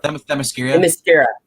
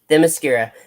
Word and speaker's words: Themyscira: I cannot pronounce this island's name. Well, Themyscira. Themyscira.